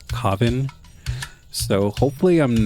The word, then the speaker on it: Kavin: to pronounce it, because I don't know if it's Kevin or Kavin. And I don't want to keep saying it wrong, so let me do a quick YouTube search for how to pronounce their child's name and the father's name. Okay, so I'm back. So I watched a couple videos and it seems like people are generally pronouncing it Kavin.